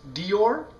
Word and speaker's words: Dior: gabana and also one of my personal favorites Dior that's is actually how you say it